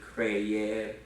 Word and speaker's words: creer: And don't let it bother you that these, and by the way, whenever you have verbs that have a dual vowel, it's never a diphthong. These are separately pronounced, just like with creer, traer.